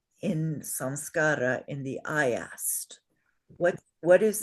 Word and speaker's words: samskara: The dot under the M means it's not a plain M, it's an anusvara M. And that means 4 chances out of 5, you will change it to a different letter when you write it.